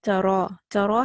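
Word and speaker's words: ترى: But for example here if you have tara has a ya at the end. This ya is alif maqsura. It's, if you see that there are no dots, so you have to pronounce it like an alif.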